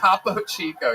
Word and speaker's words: Topo Chico: Topo Chico. Yes, that is exactly how that's pronounced.